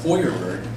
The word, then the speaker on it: Feuerberg: from my last name in german it's pronounced foyerburg which means fire somehow my family came